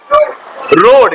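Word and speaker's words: road: एडी क्या है रो आर ओ एडी तो इसको रोड नहीं पढ़ना डू not pronounce रोड रोड क्या पढ़ोगे रोड तो ए नहीं पढ़ना क्या बन गया रोड रोड क्या पढ़ोगे रोड रोड बी ओ ए आर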